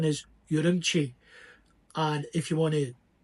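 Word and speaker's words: Ürümqi: He also helped me know that the correct pronunciation is Urumqi.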